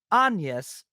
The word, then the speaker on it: Agnes: So, uh, even though her name is spelled Agnes, it's pronounced Anus.